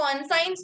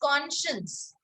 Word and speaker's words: conscience: वो conscience नहीं होता, that is conscience. ठीक है, we don't pronounce it that way, we call it conscience.